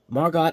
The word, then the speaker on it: Margot: with e you know the E is silent so I guess here the t is silent but uh anyway regardless